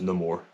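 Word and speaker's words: Namor: The more not anymore we learn in the movie that is pronounced no more um I don't know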